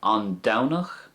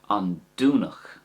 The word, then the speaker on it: An Domhnach: So An Downach or De Downig. That's the way I would say it. An Downach or De Downig. But you could also say it with a do sound, sorry. So for example, An Dúnach is fine as well. That's the way they might say it in Connemara and Galway, the Connacht dialect.